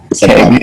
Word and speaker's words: Kang: Kang. It's pronounced like King the Conqueror because it's like run by him secretly.